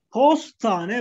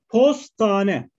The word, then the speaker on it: postane: Şimdi postane bak, look at the pronunciation. Postane. Post office. Postane. Bastane. This one pa. Pastane. Pastane is like cake shop.